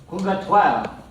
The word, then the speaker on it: Purgatoire: How do you say this? If you're speaking in French. Purgatoire.